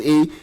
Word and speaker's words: Eay: E motherfucking Y pronounced as E.